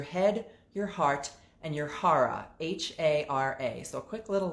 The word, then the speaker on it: hara: head your heart your hara so if you've ever heard the term uh harry kerry um that's just a mispronunciation of hara and your hara the